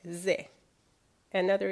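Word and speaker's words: ز: If you put one dot on top of it, however, you will get Z, another equivalent of Z in English.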